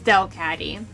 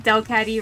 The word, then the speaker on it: Delcatty: Delcatty can learn Heal Bell, and Del in Delcatty rhymes with bell, so just go with it.